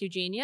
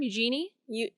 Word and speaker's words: Eugenie: Harry's cousin, Princess Eugenia, I think is maybe how you say her name, Eugenie. Eugenie? Oh, you're right.